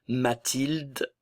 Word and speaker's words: Mathilde: Mathilde, le E final ne se prononce pas.